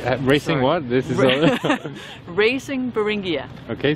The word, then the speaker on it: Beringia: This is Racing Beringia. Okay, spell it.